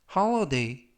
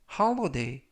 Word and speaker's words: holiday: 이때 유의하실 것은 알파벳 O가 O 발음이 아니라 아 발음에 가깝습니다. 그리고 알파벳 I는 어 발음이 납니다. 그래서 홀리데이가 아니라 holiday, holiday 라고 발음하시면 되겠고요.